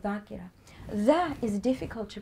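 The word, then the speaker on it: ذاكرة: We call somebody who sits on the minbar a zakir or zakira. It's actually dhakir or dhakira.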